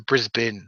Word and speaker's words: Brisbane: This is how you can tell that I was actually in Australia because I didn't go to Brisbane. I went to Brisbane. That's how it's pronounced.